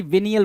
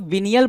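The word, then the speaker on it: venial: मामूली गलती, विनियल बोलते हैं। क्या? विनियल। कुछ लोग विनियल बोलते हैं, कुछ लोग विनायल बोलते हैं, तो ये आप पे डिपेंड करता है।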